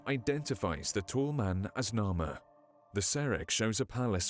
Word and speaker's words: Narmer: The first figure is of a catfish, pronounced Nar, and the second of a chisel, pronounced Mer in ancient Egyptian.